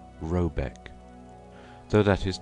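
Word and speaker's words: Råbäck: called r a b a e c k pronounced something like roebek though that is not its name it is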